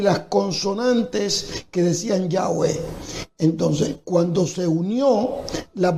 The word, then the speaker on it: Yahweh: Sí, porque la forma de mencionar, de pronunciar el nombre de Dios, posiblemente original, era Yahweh.